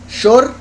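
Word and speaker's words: שור: Pero si uno pronuncia la Vav como una O en vez de una U, Shor, eso es becerro.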